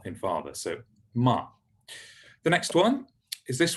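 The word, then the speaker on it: מה: so the first one ah halfway between cat and father is how you pronounce it so like in the hebrew word for what which is ma ma means what so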